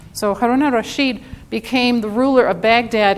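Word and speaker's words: Harun al-Rashid: was haroon it's spelled al rashid but it's pronounced so haruna rasheed became the ruler of baghdad and ended up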